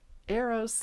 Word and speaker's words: Eros: Eros. As in I made a mistake.